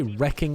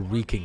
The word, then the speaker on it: wreaking: why literally why FL would you say wrecking Havoc or wreaking havoc I've always pronounced it wreaking havoc maybe it's an American British thing very very very very